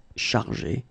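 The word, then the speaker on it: chargées: In both cases, you don't pronounce e, and you don't pronounce s. So it will go like chargé, okay, for all the versions.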